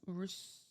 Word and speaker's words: Urus: Yeah, it's not Urus, it's Urus. Found that out on accident because I said it wrong.